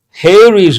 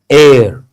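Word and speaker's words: heir: No one expected the man with black hair to become a hair is not correct. H is silent air to that property. Because H is silent or mute here we have to use and yes.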